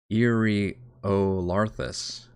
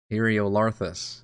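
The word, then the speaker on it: Iriolarthas: h i oh God it starts with an ear Eerie olarthus boy I was way off Samsonite that was way up Uriel arthas Ariel larthus because that's a the emphasis on the syllable eriolarthus Erie olarthus eriolarthus eriolarthus I have been way wrong on that nobody's been correcting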